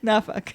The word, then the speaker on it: Norfolk: So it's Norfolk. Yeah, the locals here, they don't use the R. It's Norfolk. Norfolk.